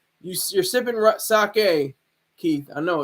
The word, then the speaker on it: sake: might be sipping some saki sake excuse me I said it wrong I always try to say the right way you you're sipping sake Keith I know it's